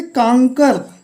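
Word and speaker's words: conquer: यहाँ पे का उच्चारण है, CON कांग, और QUOR कर, QU का उच्चारण कर आया, का आया।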